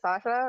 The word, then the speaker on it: Sasha: Well, I mean, I'm gonna have to agree with, was it Sasha, right?